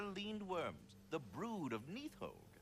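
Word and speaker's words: Nidhogg: Those are leaned worms, the brood of Neathhogue. Needhogg? That's the mother? Is that how that's Correct.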